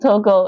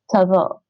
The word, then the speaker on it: того: So, it's not Togo in English. Russian, yes, it's a pronoun. Yeah, I know that. Don't say here. Tavo, phonetically spelling tavo.